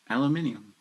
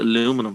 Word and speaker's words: aluminium: hyundai yeah hyundai i do aluminium for me aluminium yeah but you guys call it aluminum for some reason whoa you guys next next